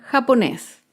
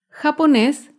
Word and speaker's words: japonés: Otro ejemplo con la palabra japonés. Japonés es una palabra aguda. Se acentúa en la última sílaba y lleva tilde porque termina en la consonante S. Japonés.